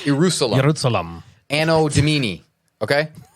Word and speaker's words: Ierusalem: This game is called Ierusalem. Jerusalem. Anno Domini. Okay? Ierusalem is spelled like Jerusalem with an I.